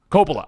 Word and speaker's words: Coppola: Now that being said, I also think there's a slight amount of jealousy from Scorsese and Coppola or Coppola. How do you pronounce it? Coppola. I did it right.